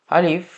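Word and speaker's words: ألف: আলিফ খুবই সহজ। সিম্পলি এখান থেকে জাস্ট একটা লাঠির মত একটা টান লম্বা একটা টান এবং আলিফ উচ্চারণ করাও খুব একটা কঠিন আপনারা সিলেটলি মুখ দিয়ে উচ্চারণ করবেন আলিফ আমার সাথে বারবার উচ্চারণ করুন আলিফ আলিফ আলিফ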